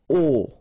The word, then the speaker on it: aux: aux, okay, and then phonetically you produce it or you pronounce it o.